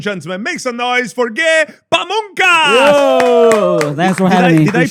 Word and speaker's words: Pamungkas: goat ladies and gentlemen makes a noise forget pamas thanks for having did I pronounce it nice right pamas you pronounced it beautifully and perfectly and and this